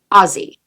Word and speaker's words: Aussie: I called it Aussie girl glam in my original video and oh boy, I must have gotten at least 50 comments telling me that I pronounced it wrong, that it's Aussie.